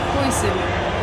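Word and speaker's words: Huijsen: Hoyson.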